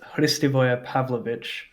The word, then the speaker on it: Hristivoje Pavlovic: The actual pronunciation of my full name is Hristivoje Pavlovic, which is like, it's Serbian.